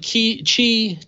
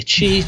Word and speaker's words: Qi: a big fan of Kichi charging I'm gonna pronounce that right someday Qi charging I even looked it up I have a few